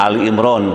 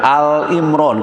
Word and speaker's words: Ali Imran: kajian surah Ali Imron hati-hati membacanya Ali Imran karena ada masyarakat yang membaca al- Imron enggak ada Al Imran surah Ali Imran ayat